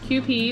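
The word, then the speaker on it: Kewpie: have this q p it says pronounce q p mayonnaise japanese style mayonnaise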